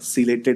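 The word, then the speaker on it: ciliated: T silent है बेटा, ठीक है? टी को साइलेंट प्रोनाउंस करना, सिलेटेड एपिथेलियम कहा जाता है।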